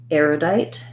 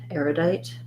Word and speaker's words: erudite: then we have an oo sound for the letter u um the letter e makes the i say its name so we have the i diphthong so thinking about it like diet or same rhymes with if we could also spell it that way with like night and light erudite erudite um